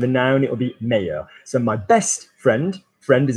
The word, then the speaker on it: meilleur: Or best is one syllable and it will go to two beats in English, in French, so meilleur.